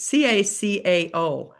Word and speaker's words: cacao: It's c a c ao. It's like not cocoa, but co coca. How do you say it? Does anyone know? Ca. Cacao. Cacao.